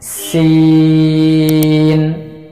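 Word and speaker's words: سين: যে সিনটা জিপার আগা, সামনের নিচের 2 দাঁতের পেট ও আগার সঙ্গে লাগিয়ে পাতলা আওয়াজে উচ্চারণ করব, 4 আলিফ পরিমাণ টেনে। সিন সিন সিন।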